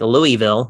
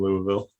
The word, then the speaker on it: Louisville: I think you were like Louisville.